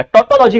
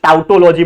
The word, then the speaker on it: tautology: टोटोलॉजी का मतलब क्या होता है, जो प्रोनाउंसिएशन कुछ भी कर सकते हैं, कुछ लोग टोटोलॉजी बोलते हैं, कुछ टाउटोलॉजी बोलते हैं, मैं बोलता हूं उसको टोटोलॉजी, ठीक है, टोटोलॉजी।